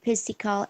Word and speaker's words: physical: history, PE or physical education. Physical. Physical education. Okay, good. PH, PH itu dibacanya F ya teman-teman. Sometimes, tidak semuanya tapi mostly itu dibaca F.